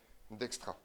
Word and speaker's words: Dijkstra: Donc donc on est parti petit 3 algorithme de alors je vous rappelle hein ça se prononce d'extra ça on est content